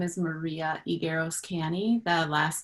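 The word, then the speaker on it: Higueros-Canny: hi um good morning my name is maria igueroscani the last name is spelled h-i-g-u-e-r-o-s and then it's hyphenated a second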